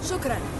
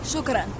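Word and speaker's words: شكرًا: Shukran. Say again? Shukran.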